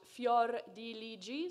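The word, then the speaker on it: Fiordiligi: now you might remember fiore de ligie pronounced fjor diligi say it with me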